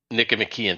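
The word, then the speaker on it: Nicomachean: I can't ever say it right Nic mckian Nick mckian thank you um ethics starts but but emian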